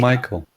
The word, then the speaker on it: Michael: I don't know how to pronounce his last name. So he Mikhail, wrote. by the way, it's not called Mikhail. Michael.